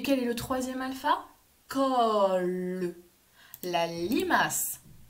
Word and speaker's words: col: Col. La limace. Col. C-O-L. Col. Attention, ce n'est pas la colle pour coller des feuilles, car il n'y a pas de Madame E muette.